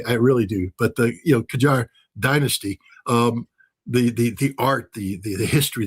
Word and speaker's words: Qajar: Tehran, we're blowing up some of the old Qajar. And again, I might be mispronouncing that.